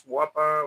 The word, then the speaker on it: guapa: Bob, how do you pronounce guapa with the G or without? In Spanish, is with a G, Bob.